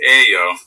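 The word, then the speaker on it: 예요: ayo becomes yayo, but when spoken, yayo is almost always pronounced ayo, which admittedly is a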